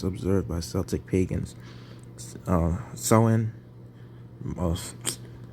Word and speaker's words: Samhain: samhain was first observed by celtic pagans uh sowen most said his name supposed to be pronounced as so in someone mark the celtic